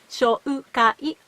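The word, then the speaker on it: 紹介: 紹介 4 syllable. しようかい 5 syllable. Z. If I said it fast, I think it's hard to notice the difference. So please pay close attention to the differences.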